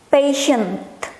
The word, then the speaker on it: patient: Kita lihat, perhatiin di bagian TI-nya ya. Yang ini nation. Yang ini jangan lupa ada T di belakangnya, patient. Nah, kan dibacanya sebagai sh.